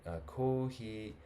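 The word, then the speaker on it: コーヒー: Kohi, a couple of points about pronunciation here. And always listen to a native speaker, don't listen to me. But kohi, see the lines that makes it longer. Pay attention to these.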